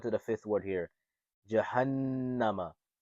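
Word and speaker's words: جَهَنَّمَ: Jahannama. Now this is how you will spell it out. It's the letter Jim, Fataja. Jim, Fataja. What sound does this make? Ja.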